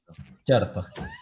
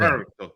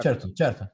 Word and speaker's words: certo: Well, it's it's a weird R that you pronounce. It would be like Ciao. certo, You say it. certo. You Char- gotta roll the R a little bit. Charto.